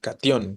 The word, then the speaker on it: catión: Aquí sabemos que la sílaba tónica es la última, entonces eso nos indica que será una palabra aguda y que por lo tanto, como termina en N, pues habrá que acentuar, ¿no?